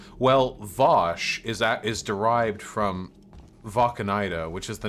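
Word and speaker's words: Wacheneide: Valkanida. Like German.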